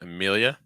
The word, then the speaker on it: Amelia: next one Amelia Amelia so starting off with a schah sound uh then mill again like we saw on Max and Mill Mill dark l sound so say m more just Mill and then yeah yeah try to link it together can't yeah yeah yeah